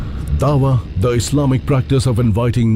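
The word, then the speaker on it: da'wah: Dawa is the way it's pronounced.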